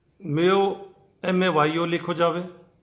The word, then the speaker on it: Mayo: लेकिन जब आप इंग्लिश के अंदर लिखोगा जो जुबान है तो वह के अंदर या को जो तलफ़ुज़ है या की जो प्रोनाउंसिएशन है वो मेयो की है, MAYO।